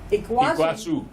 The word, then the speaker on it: Iguazu: Iguazu? Iguazu.